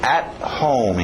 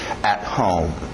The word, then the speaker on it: at home: At home, engole o T. At home.